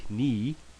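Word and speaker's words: Knie: the N sound right the K would be silent well in German it's a little bit different and that's going to be knee and that would be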